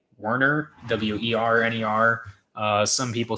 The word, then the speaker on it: Werner: Some people think it's Warner with an A. It's Werner. I don't know if that sounded any different there, but it's Werner, not Warner, even though that's what some people try and pronounce it as, thinking that it has an A in it, even though it's Werner.